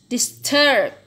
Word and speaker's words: disturb: Disturb. Jadi ini banyak disturb, bukan disturb, but disturb.